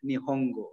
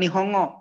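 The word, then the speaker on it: 日本語: Bacanya bukan Nihongo ya. Nihongo. Go artinya adalah bahasa ya, language.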